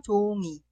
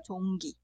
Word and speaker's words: 종이: La segunda sílaba solamente se pronuncia con la vocal, ya que la consonante inicial ㅇ es muda. Por eso se pronuncia 종이. Nunca se pronuncia 종기.